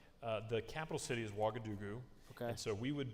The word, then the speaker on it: Ouagadougou: Ouagadougou. Is Is that how you say it? That's it. That's actually really accurate.